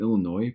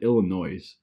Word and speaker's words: Illinois: people that aren't from Illinois pronounced the s in Illinois it's crazy like my dad